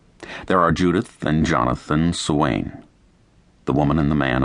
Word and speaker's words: Swain: There are Judith and Jonathan Swain, the woman and the man of the house to be.